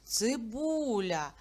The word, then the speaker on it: цибуля: звукову модель слова цибуля на скільки складів ділиться це слово на три а наголос на який звук падає на у цибуля далі цу цукор складіть